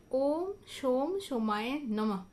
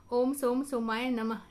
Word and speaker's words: ওম সোম সোমায় নমঃ: মন্ত্রটা খুব সহজ। ওম সোম সোমায় নমঃ। ওম সোম সোমায় নমঃ এভাবে উচ্চারণ করা হয়।